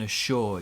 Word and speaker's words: assure: Now, our pronunciation here, we put the stress on I can assure you, I can assure you. So we stress the second syllable, I can assure you.